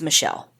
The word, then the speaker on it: Mitchelle: Michelle is spelled Mitchelle, and I've heard it pronounced both ways, but from what I can gather from the court recordings, it's Michelle. So that's the pronunciation we'll go with.